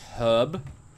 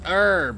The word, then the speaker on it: herb: I love that I mispronounced it as herb on one of my World of Warcraft videos, so everyone's like, call it an herb. It's spelled with an H. An H. Like, it's herb. I'm like, alright, fine, herb.